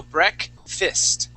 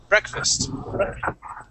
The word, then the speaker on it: breakfast: so that a uh the a s at the at the very end is actually pronounced like an i s so break fist breakfast okay and what what